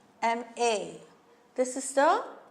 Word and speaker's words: MA: But this MA, we pronounce it as MA. MA.